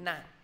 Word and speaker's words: knife: Chị cố gắng viết giúp em là chữ knife. Knife là mình biết cách đọc à?